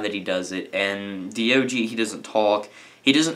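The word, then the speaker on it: Diogee: hilarious stope it's really hilarious he has this dog called do g spelled it felt like di oggi e but it's pronounced like d OG dog that's the joke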